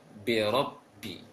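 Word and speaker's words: بِرَبِّ: Kan itu dalam membaca ra fathah jangan dimonyongkan bibirnya, jangan dimanyunkan bibirnya, tetapi agak membulat sedikit saja. Lebih utamakan, lebih didominankan pengucapan ra di lisannya, rabbi.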